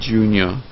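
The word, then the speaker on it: Junia: and and and Junior which is spelled j u n i a so that's Junior and Junior j j u n i a it's not it's also it's also the other word j u n i o r that's also Junior as well my country my countrymen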